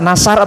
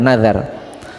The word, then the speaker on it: nazar: Puasa nasar atau nazar? Kalau nasar di Jakarta nazar, huruf zal itu nazar.